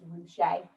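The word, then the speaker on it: Ruscha: name is ed roushay the way you say his name is ruche that he he felt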